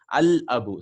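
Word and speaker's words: الأب: Qamariya, we will pronounce the lam. Al-abu, see? Al-abu, the father.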